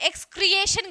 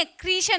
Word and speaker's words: excretion: और बच्चे ए भी लगाते हैं। एक्सक्रिएशन कर देते हैं। एक्स को क्रिएट कर दो। नहीं क्रिएशन नहीं है। एक्सक्रीशन है।